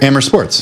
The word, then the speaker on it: Amer Sports: Is it Amer? Amer Sports. Oh, Amer. Okay. Amer.